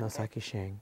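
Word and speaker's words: Ntozake Shange: you mentioned Nikki Giovani and how do you pronounce her name nshi Shang Noak Shang noaki Shang okay two African-American uh poets so now the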